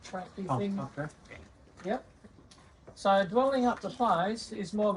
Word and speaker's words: Dwellingup: Now I'm going to give you the Noongar name for Dwellingup. So can you say four syllables or 4 sounds?